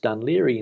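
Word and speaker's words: Dún Laoghaire: one here from gordon the irish town is pronounced dunleary in english stewart you gordon thanks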